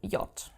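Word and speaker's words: Jot: have the letter J which is called yot okay as you can already say from its name in German it is not pronounced like the English J there is no J sound it is more like an i in English y so for example my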